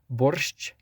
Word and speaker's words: borscht: Borscht or borsch, however you would pronounce it, depending on the language you're speaking, because in Ukrainian it's more of a sh at the end, and then in Russian it's just a sh.